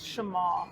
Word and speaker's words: Shema: I don't mind, but the actual pronunciation for the word is Shema. So it has an accent between the E and the M.